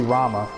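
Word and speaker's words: Ramuh: pronounce that name I got pronouncing Ramen summoned as ramu and I was thinking it was Rhema but it's actually Rama so Cindy just said it I'ma just I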